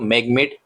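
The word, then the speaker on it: MagMate: India इनके साथ या एमएजी एमईटी इलेक्ट्रिकल इंडिया भी बोल सकते हो मैं इसको मैगmate इलेक्ट्रिकल इंडिया ऐसे यहां पर प्रोनाउंस करने वाला हूं तो इसके साथ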